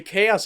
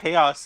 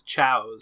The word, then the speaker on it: Chaos: I had a friend who used to pronounce him as Chows. Chows.